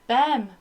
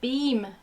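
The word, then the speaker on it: Behm: Martina, I always said Bem, but apparently it's Beam.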